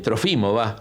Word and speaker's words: Trófimo: También fue testigo junto con Trófimo, Trófimo, con acento en lado, Trófimo, del arresto de Pablo, y seguramente lo habrán acompañado el tiempo que estuvo preso en Cesarea.